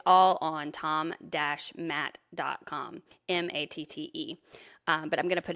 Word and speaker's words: Matte: And I said, hey, will you look up Tom Matt? It's spelled Matte, everybody, by the way, because